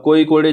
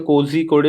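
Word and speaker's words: Kozhikode: अब कोई कोडे जो है, ऑल्दो नाम इसका कोजी कोडे है, लेकिन इसको बोलते हैं कोई कोडे। इसका प्रोनाउंसिएशन कोई कोडे।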